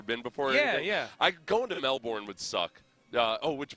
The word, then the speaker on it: Melbourne: I going to Melbourne would suck. Uh oh, which by the way, it's Melbourne. Melbourne. Melbourne. Melbourne. I was talking to the Melbourne advisory travel uh bureau person the other day who's an American.